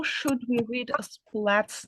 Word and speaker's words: Splat: should we read a splat's name um how to pronounce it in English yes flat the s p and l at the beginning all smushed together splat can you try